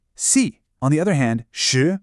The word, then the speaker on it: 十: On the other hand, shi, meaning 10, is the 2nd tone. It rises smoothly, almost like you're asking a question.